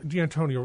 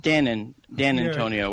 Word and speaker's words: D'Antonio: Yeah, D'Antonio would be... What did I say? D'Antonio? Dan Antonio, which is what sometimes the telemarketers say that, and I just hang up on them.